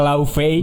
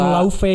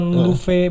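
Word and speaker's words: Laufey: jadi pronunciation I pron tulisannya sih kan emang l a u f e y tapi itu tuh Bahasa bu laufei bukan lufe bukan Le Nah kalau kalian ngikutin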